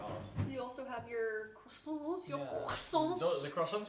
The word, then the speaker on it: croissant: Like, you need to be like choking on something while you say You have it. to plug your nose while you say it to say it right.